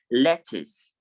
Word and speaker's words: lettuce: also is pronounced biscuit, and for A is pronounced lettuce.